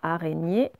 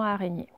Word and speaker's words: araignée: son qu'on vient d'apprendre, et il y a le E à la fin, araignée, voilà. On vous avait mis un petit E parce qu'il y a un E muet dans araignée.